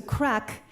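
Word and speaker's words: craic: crack okay wait okay so crack is different in ireland than it is in the united states or pretty much anywhere else it's spelled c-r-a-i-c and it's uh basically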